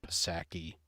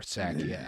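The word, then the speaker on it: Psaki: of the lovely gen saki or sakia i don't know how to pronounce it right nutsacky um yeah i think it i think it is just sake is the pronunciation yeah i don't know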